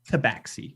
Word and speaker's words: Tabaxi: and you are one of the Tabaxi, right? Is that how you say it? Tabaxi. Yes. Yes. Roll me a charisma.